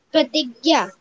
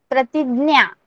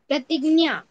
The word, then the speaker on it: प्रतिज्ञा: Yes, you have to work out more on the pronunciation, okay? Okay. Yes. Angel, please. Yes, miss. Pratigya. Pratignya. Pratignya.